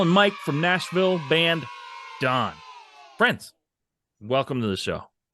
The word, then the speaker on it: davvn: for having us and nailing the pronunciation on my name and our band name I'm so impressed yeah we get we get d a lot but you crushed it I I mean look